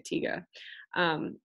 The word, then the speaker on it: Tiger: And in German it's just der Tiger, so or tiga, actually you would say tiga.